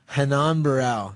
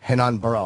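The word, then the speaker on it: Hannan Barão: Hanan Barau. Hanan Baro. I was way off. Portuguese and the R is an H.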